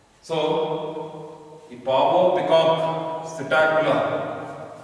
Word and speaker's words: Psittacula: So the pavo, peacock, psittacula, P is silent, parrot.